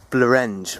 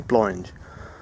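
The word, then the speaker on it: Blorenge: I got absolutely slated for pronouncing it Blorange when it is apparently Blorange.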